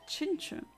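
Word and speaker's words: Chimecho: There we go, shiny chimchu. That's how it's pronounced.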